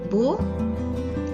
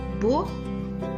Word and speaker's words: beau: And the pronunciation goes like nouveau, nouvelle. Beau, belle, nouveau, nouvelle.